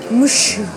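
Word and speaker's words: ムッシュ: Et alors, en japonais, ça donne mushu. Un mu, un petit tsu. Le petit tsu, c'est pour retenir la syllabe qui suit. La syllabe qui suit étant un shu. Avec un chi et un petit yu pour faire shu.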